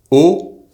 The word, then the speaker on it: eau: The words in French for WATER, UP, and the preposition AT singular and plural are pronounced exactly the same way. So, WATER is EAU, UP is HAUT, and AT is AU, or AUX plural. It’s also the same as the letter, O.